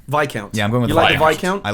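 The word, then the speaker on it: Viscount: your favorite I'm going is it pronounced VI count VI count yeah I'm going with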